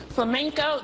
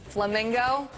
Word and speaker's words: flamenco: turn I also yeah flamenco dance lessons yeah that's it Oh instead of saying flamenco the contestant went with you know the pink bird flamingo you got a feel